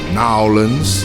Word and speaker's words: New Orleans: Because of Louisiana vibes, basically, because you know this thing's all based on New Orleans, and if you're from New Orleans, Nowlands, that's how they say it.